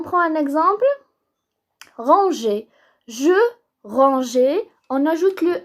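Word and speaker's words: rangeait: On ajoute le E pour que ça se prononce pas G.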